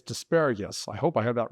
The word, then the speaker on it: Dvareckas: Yeah, Dvareckas like asparagus.